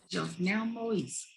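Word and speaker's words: Jovenel Moïse: Jovenel Moise, correct.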